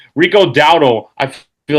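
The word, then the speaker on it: Dowdle: Uh Rico Dao, right? Yeah. Yep. Rico, I keep getting his name wrong. Rico Dao, I feel like, will be the difference maker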